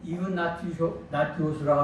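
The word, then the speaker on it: Ἰγνάτιος: 시리아 안디옥의 주교인 이그나티오스, 헬라어로는 이그나티오스라고 하고 라틴어는 이그나티우스입니다. 영어도 이그나티우스 발음하는데 이것을 또 천주교에서는 에스파니아 언어로 바꿔서 이나시오 이렇게 또 지난 시간에 말씀드린 것처럼 바로 셈족, 또 게르만족, 또 북유럽이 되겠죠.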